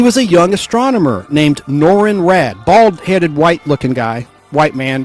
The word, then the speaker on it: Norrin Radd: a young astronomer named Norrin Radd, bald-headed, white-looking guy, white man, like Caucasian, and that's spelled Norrin, Norrin Radd, R-A-D-D, like radical man, but with 2 D's.